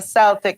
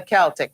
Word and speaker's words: Celtic: Many people mispronounce it and call it the Celtic cross. Well, Cleo's going to tell you it is called the Celtic cross.